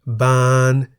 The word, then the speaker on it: บาน: For example, a, meaning father's younger brother or sister, and ban, meaning to blossom. The single syllable in the word a is a live